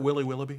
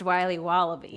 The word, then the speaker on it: Wiley Wallaby: Can I have a piece of that Willy Willoughby? Wally Wibbly. Wiley's Wallabies. Wallaby Wallies? Wilby Wababy? It's pronounced Wiley Wallaby.